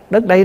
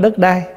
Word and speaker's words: đất đây: nè, chứ không phải đất đai. Mình nói riết nó thành trại thành cái chữ đất đai, chứ đúng ra là mình phải đọc là đất đây, tức là đất này chúng ta đang ở.